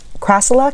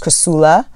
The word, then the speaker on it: Crassula: and family crassulae ce crassula can either be pronounced cressula or crassula and both are considered to be correct pronunciation i actually use both